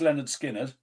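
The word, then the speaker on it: Lynyrd Skynyrd: Pronounced Leonard Skinner, which I thought someone might choose.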